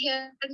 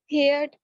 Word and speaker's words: heard: हेयर्ड Wrong pronunciation. Heard.